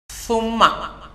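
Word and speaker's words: ثَمَّ: ഇനി മറ്റൊരു ഉദാഹരണം ശ്രദ്ധിക്കൂ സുമ്മ നമുക്കറിയാം സുമ്മ എന്ന് പറഞ്ഞാൽ പിന്നെ എന്നാണ് അർത്ഥം ആ സിന്റെ ഉകാരം ളം ഒഴിവാക്കി ഫത്ഹ് ആയി കഴിഞ്ഞാൽ സമ്മ അപ്പോൾ അതിനർത്ഥം അവിടെ എന്നാണ്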